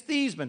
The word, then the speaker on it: Theismann: I'll explain it later he said it's thasan hung the phone up